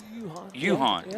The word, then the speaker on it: Johan: Yuhan. Yeah. The letter is O, but it's pronounced as a U.